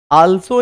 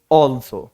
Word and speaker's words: also: अगला वर्ड है ALSO, ऑल्सो पढ़ते हैं, बल्कि इसको, और जबकि इसको ऑल्सो नहीं बल्कि इसको पढ़ा जाएगा ऑल्सो, आल्सो नहीं ऑल्सो, राइट।